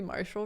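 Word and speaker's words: Martial: fellainis name is marshall well it's spelled m-a-r-t-i-a-l that would be marshall right i can't yeah yeah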